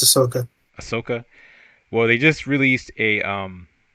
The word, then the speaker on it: Ahsoka: Is it Ahsoka or Ashoka? No, it's Ahsoka.